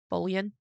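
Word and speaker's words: Bouillon: And then in 1947, she would marry a French orchestra leader named Joe Bullion. It's spelled like bullion in English.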